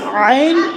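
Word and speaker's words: عين: আউ, আইন গলার মাঝখান থেকে, আইন উচ্চারণ কোথায়? গলার মাঝখান থেকে। কোথায়? কণ্ঠনালী আছে না, কণ্ঠনালীর মাঝখান থেকে হবে।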